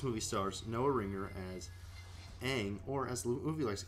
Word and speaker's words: Aang: all that this movie stars Noah Ringer as Aang or as movie likes to call him Ong I don't know why yeah they like rearrange